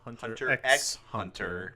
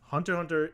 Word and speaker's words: Hunter x Hunter: because watching hunter hunter some people call it Hunter x Hunter because there is the letter X between those two arms there's also X's in between every episode name because you're not supposed to pronounce that oh so the author